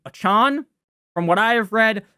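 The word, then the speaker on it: Achane: you say his name it's not a change it's not Devin two chains I'm gonna call him that but I believe it's Devin achon from what I have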